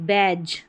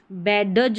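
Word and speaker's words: badge: ज रहेगा जैसे कि बैज बैडज नहीं बोलेंगे इसको बैज और यह मोस्टली आपको नजर डी जी ई लास्ट में नजर आएगा और इसको ज पढ़ेंगे और डबल जी है।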